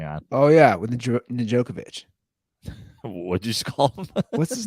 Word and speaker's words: Djokovic: joke of it no the D silent Djokovic Novak Djokovic oh you're like digit Djokovic did I try to combine jokic yeah how's it pronounced Djokovic okay well you'll learn